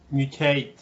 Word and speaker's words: mutate: okay so with this we have to add an intrusion sound which is yup so it's not mutate but mew mew yeah hate hate and this vowel is not in fact a vowel it's a diphthong it's this one here eight mutate yeah okay and